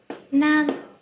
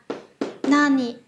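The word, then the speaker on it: 何: Một là nan, hai là nani. Nani. Được chưa ạ? Và cái cách đọc của nó sẽ phụ thuộc vào cái từ đứng sau của cái chữ đó là chữ gì.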